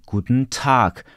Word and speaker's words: guten Tag: akcentem mamy Akcent padający na samogłoskę bo zawsze akcent pada na samogłoskę A czyli powiemy kut tak najważniejsze jest słowo tak kut też jest ważne